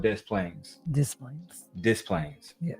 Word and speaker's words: Des Plaines: They were looking for the young lady in Chicago, and they found her in a city called Des Plaines.